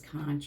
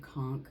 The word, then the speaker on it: conch: of the mullisk from the conchk or the conch depending how you how you wish toh to pronounce it. Yeah. Yeah. Because I've heard it both ways. Kunch and I've heard conchk.